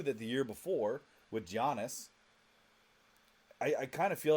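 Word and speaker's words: Giannis: it's land Landon Fletcher I thought Janis jannis it's Janis it's a soft G sorry um but no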